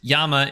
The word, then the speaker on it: llama: is pretty good also llama is just pronounced Yama in Spanish like the verb right I feel like that could lead to a Spanish version of who's on first I have no idea although if it was pronounced that way that would explain the uh the Double L on it because that's usually how that sort of Y sound is indicated ooh speaking of pronunciation